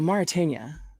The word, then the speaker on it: Mauritania: of desert climate dudes okay so Mauritania is how you say it um secret Soul she